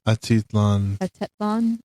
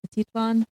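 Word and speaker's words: Atitlán: Atitlan. Atitlan.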